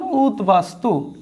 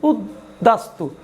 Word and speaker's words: উদ্বাস্তু: একটু খেয়াল করো, এটি উচ্চারণ করলে হবে উদ বাস তু। মূলত আমার কি হওয়ার কথা ছিল? হওয়ার কথা ছিল দিত্য উদ্দাস্তু, কিন্তু তা নয়, হয়েছে উদ্বাস্তু, অর্থাৎ বয়ের স্বাভাবিক আচরণ হয়েছে।